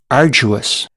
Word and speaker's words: arduous: It's actually right in the one way and pronounced in completely another way. Arduous. I'm sorry it was probably very loud. Aruous.